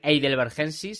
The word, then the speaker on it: heidelbergensis: neandertal es el heidelbergersis escrito con h lo pronunció como si fuese una J por imagino que por por manías de estudiar el inglés no pero bueno se puede decir eidelbergensis si queréis por aquí lo